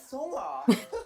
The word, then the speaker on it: Seonghwa: This is how they pronounce their names. Hi, my name is Seonghwa.